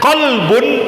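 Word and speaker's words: قلب: Kalau saya katakan qolbun, apa artinya qolbun? Apa artinya qolbun, Bapak Ibu? Ha hati. Manajemen qolbun, ya manajemen qolbun. Qolbun itu harti, hati. Tapi kalau kalbun pakai huruf kaf artinya anjing, Bapak, Ibu.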